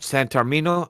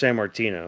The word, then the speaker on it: Sammartino: Santarmino. No, I say his name wrong. He's inspired by Punk too, because he even Oh, Bruno referenced Sammartino.